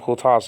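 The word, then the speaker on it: οὗτος: And by the way, hutas, okay, I should really pronounce it hutas and not hutos, because hutos sounds like an adverb.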